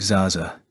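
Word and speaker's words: XaXa: good on his promise his name was exaa a short little word that tumbled out of of my mouth pronounced like Zaza threw off the course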